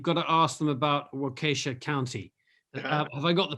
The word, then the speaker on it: Waukesha: he says you've got to ask them about wakasha county have i got the pronunciation right waukesha county walker show working show there we go um either you